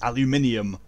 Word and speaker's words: aluminium: double o in it it's aluminium except the way we spell it here in the states we don't have that i but you don't have a double o either but the u is pronounced as that sound it's because says who it